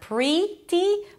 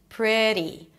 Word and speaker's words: pretty: So we start with PR, round your lips a little bit for the R, bring it back, the tongue, pre, and then it's a relaxed I sound, not pretty, but pre, pre. Then a flap T and a high E, pretty, pretty, pretty.